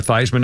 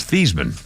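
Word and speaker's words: Theismann: think he did and the reason they changed his name pronunciation was Heisman Theisman as and Heisman but his real name is theeman Siri did Joe Theisman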